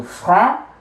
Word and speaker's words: franc: So franc, the C is silent, and then you add your H and the E, and then you will pronounce the CH as sh, right?